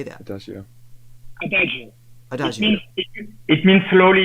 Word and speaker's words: adagio: is Adagio Adagio how do you say that adio adio adio it means slowly in Italian and